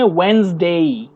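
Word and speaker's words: Wednesday: You pronounce वेंसडे, वेंसडे, डी, डी को silent कीजिए, डी को साइलेंट करना है, डी को प्रोनाउंस नहीं करना है, वेंस, हाँ वेंस, WENES को प्रोनाउंस करना है, डी को हटा दीजिए, वेंसडे, इट्स नॉट डे, इट्स डे, day, short ई में एंड होगा, वेंसडे, ओके।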